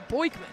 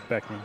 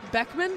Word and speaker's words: Beckman: and then number 15 Kyle boyman Beckman Beckman that's how you pronounce that yep pretty sure okay well